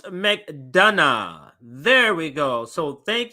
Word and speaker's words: McDonough: see this but uh there we go so pronounce mcdana there we go so thank you for the